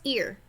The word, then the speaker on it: ir: you use and it's pronounced ear like the body part ear okay not like er or however else you might pronounce that ear like your ear okay